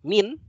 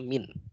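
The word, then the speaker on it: مِن: lagi yaitu huruf Jar min min min ini kalau dia bertemu dengan Al Islam maka dibacanya minat-minat agar mempermudah membacanya karena kalau mint saja sukun sulit membaca jadi minus minus B FT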